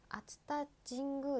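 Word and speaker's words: 熱田神宮: ごく行きたくて、熱田神宮って読みます。了解しました、熱田神宮。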